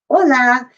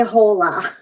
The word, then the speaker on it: hola: the h sound because the real h in spanish makes no sound it's silent okay and we know this because how do you say hello in spanish you say hola you don't say hola okay the j actually makes